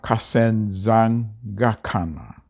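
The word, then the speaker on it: kaSenzangakhona: the zulus shaka's full name was shaka shaka kasen zang gakana so i'll spell it for you k a s e n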